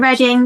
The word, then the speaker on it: Reading: Reading is in the place.